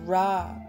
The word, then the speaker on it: Ra: Pronounced Ra, the sun appears in the depictions of the